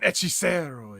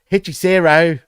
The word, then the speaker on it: Hechicero: Like, that's not the white guy way of saying it. You know what I mean? Hechicero, or like McGuinness would say.